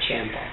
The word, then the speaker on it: Ciampa: I do believe it's Ciampa, not Ciampa. No, he pronounces it Ciampa.